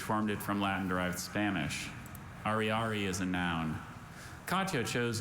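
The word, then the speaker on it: ariary: Ari is a noun. Katya chose not to spend her last 100 Ari banknote, but kept it as a souvenir of her trip.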